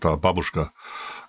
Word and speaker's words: babushka: Yeah, so babushka is Jesus, it's actually pronounced babushka.